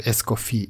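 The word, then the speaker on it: Escoffier: it looks like yeah you don't need to pronounce that last r in esophier like name so escofi escoia is something like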